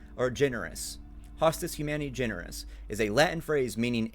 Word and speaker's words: Hostis Humani Generis: The server tag for the Deku server is Hostis Humani Genere, or Generis. Hostis Humani Generis is a Latin phrase meaning enemy of mankind or enemy of the human race.